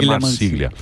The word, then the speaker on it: Marsiglia: Marsiglia que se escreve. Isso, Marsiglia. Italiano. Família. Exatamente, André Marcília.